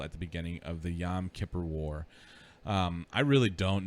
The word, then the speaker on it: Yom Kippur: peninsula from israel at the beginning of the yom kippur war um i really don't know so that's